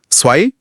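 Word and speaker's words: zwei: पहली जर्मन में letter Z हमेशा टी एस साउंड करता है। जैसे पिज़्ज़ा में होता है। टिस। तो स्वाई और ज़ेन। हम यह ज़ नहीं है। यह टिस है।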